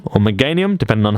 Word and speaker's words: Meganium: Meganium, or Meganium, depending on how you want to pronounce that one.